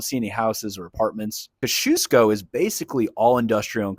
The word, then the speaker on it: Kosciusko: Today we're taking a look at a neighborhood that's hard to pronounce. It's Kash Kashusco. Kashusco.